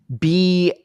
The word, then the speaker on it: Beelzeboy: It's Beelzeboy. It's spelled the way it is because it is wordplay on Beelzebub, otherwise known as Christian religions as Satan.